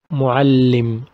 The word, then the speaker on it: معلم: معلم. As you can notice, I stress on لا or on لي. I pronounce it double. معلم. معلم. معلم. One لي with سكون and the other لي with كسرة. Next one is سبورة.